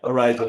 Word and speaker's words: Araiz: singer Amy Faith and um guitarist Mike um Arza. Am I saying that name right, Mike? Yeah, Arisa.